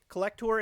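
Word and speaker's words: Collectour: It's spelled Collect, O-U-R at the end, like a tour. Collector is one of our people.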